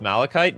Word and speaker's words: Malachite: It's pronounced malachite.